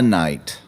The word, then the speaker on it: Shyamalan: It's Night. That's how we pronounce it.